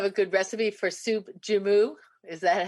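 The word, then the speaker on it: joumou: do you have a good recipe for soup jummu is that how you say it yeah is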